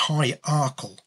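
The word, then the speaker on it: High Ercall: And that stated that Henry was the illegitimate son of Mary Atcherley of it's pronounced High Arkle.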